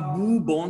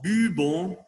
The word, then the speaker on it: buvons: Nous buvons, c'est pas boubons, sinon buvons, vous buvez, nous buvons, vous buvez, ils boivent, elles boivent. Attention à la prononciation de v, v et du b. Buvons. Il faut prononcer le b et après le v.